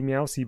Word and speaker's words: Meowsie: just call meow see meowsie by pronouncing the meow the way the actual sound meow is set mousey no because